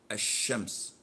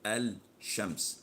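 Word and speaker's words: الشمس: Of course, this is lam shamsiyah, and we don't pronounce it when we attach it to the word. So we say az-zawal. We don't say al-zawal, as in the word ash-shams. We don't say al-shams.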